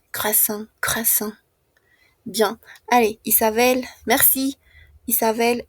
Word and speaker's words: croissant: Croasan muy similar a la pronuncia en fran. Croissant.